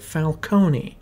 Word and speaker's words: Falcone: Well, none other than the second act's main antagonist, Carmine Falcone. Or as this movie pronounces it, Falcone.